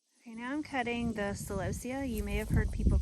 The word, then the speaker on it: celosia: Okay, now I'm cutting the celosia. You may have heard people call it celosia. That's not how we pronounce it, but you know, to each their own.